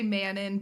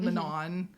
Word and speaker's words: Manon: I mean, we say maninon both of us instead of manon.